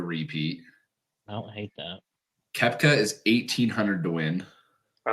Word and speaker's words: Koepka: Koepka.